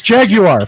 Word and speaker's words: Jaguar: English car company it's Jaguar and have been pronouncing it properly yeah it's jag you are please so this is